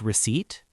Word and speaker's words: receipt: Like receipt. How do you say it? Receipt, not recipe, right? Recipe is for cooking.